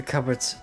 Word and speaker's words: cupboard: you check the cupboards underneath the sink you found a dead mouse Jenny who did this to you the Pea in the cup is silent just say cupboard it's so dumb Jenny